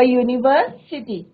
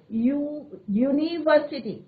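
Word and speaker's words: university: तो यहाँ क्या आएगा बच्चों, अ यूनिवर्सिटी। This is एन यूनिवर्सिटी नहीं आएगा बच्चों, कंफ्यूज मत करें। यहाँ पे हमारा जो है कॉन्सोनेंट साउंड आ रहा है, लॉन्ग यू का साउंड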